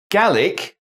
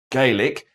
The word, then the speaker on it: Gaelic: separate lines from gaelic same spelling but pronounced gaelic as spoken in ireland and better known as